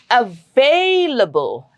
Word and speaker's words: available: The rule is the syllable right before the suffix gets the stress. So it is available available.